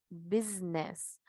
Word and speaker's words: business: tenemos estas tres que aunque se escriben con s bueno nosotros acá en su símbolo fonético vemos pronunciamos con z entonces para su is sabemos también que existe cierta fuerza que acá la i la tenemos en mayúscula Ahí vamos a ver qué significa cuando está este fonema este símbolo fonético en mayúsculas y es largo o corto negocio business business tenemos esa fuerza ahí para pronunciar la z y también para el